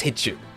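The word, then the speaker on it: 必中: Hichu? No, that must be wrong. Yeah, it is Hichu. Hitting the target, Hichu, which means that we will hit everything with 100% accuracy.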